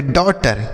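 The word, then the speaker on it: daughter: DAUGSTER तो इसे हम पढ़ेंगे डॉटर। क्या पढ़ेंगे? डॉटर। तो यहाँ पर AU का उच्चारण, ए का उच्चारण अगर ए के बाद यू रहे तो ओ के रूप में होगा।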